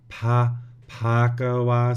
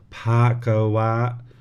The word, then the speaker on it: Bhagava: So let's see, the first one would be Arahang Samma Sambuddho Bhagava. So it's got a little bit of an H in there. Bhagava.